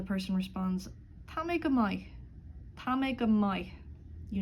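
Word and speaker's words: maith: M-A-I-T-H, good, will be pronounced mai, mai.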